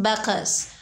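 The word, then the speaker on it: Bacchus: वन डे ही was visited by बैकस, pronounced बैकस, वन ऑफ the Greek gods, एक दिन इसके पास एक यूनानी देवता बैकस आया।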